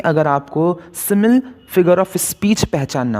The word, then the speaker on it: simile: आज हमारा पहला फिगर ऑफ स्पीच है सिमिल। कुछ लोग इसे सिमिली पढ़ते हैं, लेकिन इसका सही प्रोनाउंसिएशन है सिमिल।